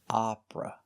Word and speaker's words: opera: The short sound is open and relaxed. Ah, hot, stop, opera.